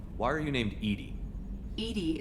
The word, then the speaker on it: EDI: are you named edie edie is the phonetic pronunciation of that is an acronym for